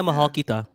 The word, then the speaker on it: Mahal Kita: Mahal Kita, is that how you say it, Albert? Yeah, Mahal Kita.